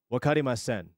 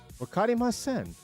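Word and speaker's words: わかりません: It's a Japanese term by the name of, or by the term of, wakarimasen.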